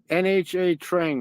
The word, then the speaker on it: Nha Trang: Spiritual is I was yeah, in NHA Trang, right? It's called the way they pronounce it is Nha Trang, right?